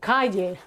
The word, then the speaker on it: calle: And it sounds exactly the same as the Y in Spanish, y, llamo, okay? Or, I don't know, calle, calle, street, pollo, chicken, okay?